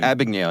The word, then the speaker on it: Abagnale: It's like I can't pronounce his name. Abagnale, yeah.